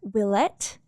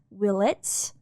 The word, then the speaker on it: Willett: Will I do my best to pronounce it willlette and not will its episode?